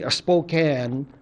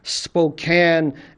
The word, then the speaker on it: Spokane: stories to little kids in a Spoke I Spokan I'm pronouncing it the wrong language pronounce that in English Spokane area elementary schools and one of the things